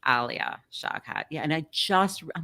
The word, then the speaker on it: Alia Shawkat: It's Alia Shawkat. Alia Shawkat.